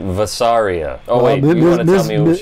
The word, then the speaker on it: Vasaria: in this episode of this episode um she pronounces it vasaria I'll tell you all about her yeah okay